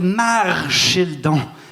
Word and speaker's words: Marchildon: Elle s'appelait Marchildon, avec un R.